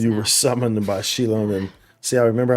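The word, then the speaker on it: Xilonen: were summoned by Shilonen. See, I remember how I pronounce it. I remember how I pronounce it because you told me how I pronounce it. Shilonen, right?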